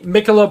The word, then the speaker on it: Michelob: just pound it no no uh I'm gonna butcher the name I always say it wrong and Knight has to correct me Michelob Ultra that's right that's correct that's so good